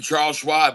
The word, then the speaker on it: Charles Schwab: Charles Schwab rhymes with Rob.